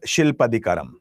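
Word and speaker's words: Silappatikaram: See there are different pronunciation but just understand the pronunciation. It is shilpadicaram.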